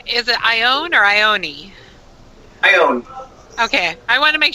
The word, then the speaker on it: Ione: Ione.